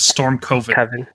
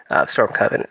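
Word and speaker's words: Stormcoven: I you keep saying coven and it sounds like co and I think that's going to get the YouTube channel flagged. I've never heard anyone pronounce this word storm co.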